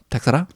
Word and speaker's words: Teixeira: Because he has no when you really hear it, he was like, Glover Teixeira?